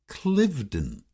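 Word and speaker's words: Cliveden: toown is often pronounced clivedon just like its namesake the huge Manor House in buckinghamshire England even though the Philly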